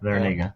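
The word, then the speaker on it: Larrañaga: They still have that, I don't know how to pronounce his name. James Larinaga. Larinaga, that's how you say it.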